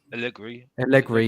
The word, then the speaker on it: Allegri: How do you pronounce his name again? Allegri, yeah.